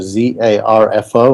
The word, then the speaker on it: zarfo: you spell it but i just did a search for z-a-r-f-o and i found it right away so it's spelled like it sounds guys zarfo and if you're american you're gonna over pronounce the r um so my main